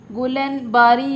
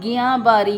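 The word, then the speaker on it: Guillain-Barré: बीमारी और है जिसे गलन बारी या गया बारी कुछ लोग इसे गलन बारी प्रस करते हैं कुछ इसे गिया बारी प्रोनाउंस करते हैं तो गलन बारी या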